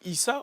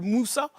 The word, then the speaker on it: Issa: Et parfois, on se trompe sur aussi comme la prononciation de mon prénom, alors qu'il est très simple. Issa, on m'appelle Moussa.